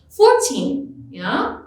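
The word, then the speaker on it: fourteen: 14 receives stress or emphasis on its second syllable. 14, Make sure you hear and understand the syllables and stress differences.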